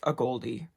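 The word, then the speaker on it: AGOLDE: like how you could pronounce this it is pronounced a Goldy denim third brand when I put it up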